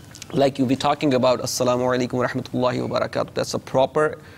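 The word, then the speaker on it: السلام عليكم ورحمة الله وبركاته: Like you'll be talking about Assalamu alaikum wa rahmatullahi wa barakatuh. That's a proper pronunciation of the salam, proper way to say salam.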